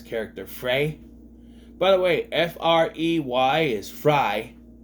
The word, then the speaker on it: Frey: a a Spanish pronouncement Frey I don't know but I have people with that I know I have relatives with that last name and it's pronounced fry so I'm just saying uh